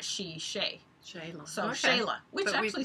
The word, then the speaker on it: Shelagh: say my name, like we were always told it's Sheila, but apparently because it's Gaelic, it's I think it's supposed to be Shayla. Yeah. You're supposed to say Shay, not she, Shay. Shayla.